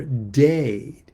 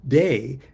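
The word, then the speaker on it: Teh: The dao is one and the t or day. Dao is spelled t- ao and t or day is spelled t e h.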